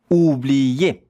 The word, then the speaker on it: oublier: Ou, that two letters are the sound ou. O, U. Those two letters, if you put them together, it's the sound ou, like the U in English. Ou.